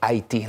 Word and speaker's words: Haiti: I love how you say it, Haiti, like the French Creole, like the Taínos who originally were on the Hispaniola island.